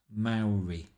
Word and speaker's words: Maori: to see a Maori pronounced Maori the first syllable rhyming with cow and they had not